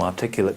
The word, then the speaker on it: articulate: So, normally, where is the stress on an adjective? Second. Normally it's on the first, in a two or more syllable word. Vale. Normally it's like a noun. Okay? Sorry, adjective and noun. Yeah, you're right. Yeah. But here it's articulate.